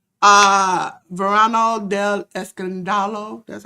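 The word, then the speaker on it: Escándalo: Uh Verano del Escandalo. That's how you pronounce it, Jay Lethal? I covered the first week. Escandalo. Escandalo, okay.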